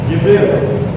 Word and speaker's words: Jibril: Jibril, tulisannya Gabriel, bacanya Jibril.